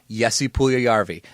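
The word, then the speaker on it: Puljujärvi: get I'll get it I go by how guys like Bob Mackenzie Darren Drager and Gordon Miller in the World Junior Championships say it and Gordon Miller and Bob McKenzie always said yesi puul yarvi and Patrick lion that's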